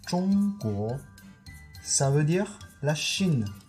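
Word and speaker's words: 中国: Tout ça, ça se prononce Zhongguo.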